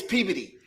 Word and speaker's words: Peabody: It's spelled P E A B O D Y. Peabody. Everybody else, it's Peabody. Up there, it's Peody.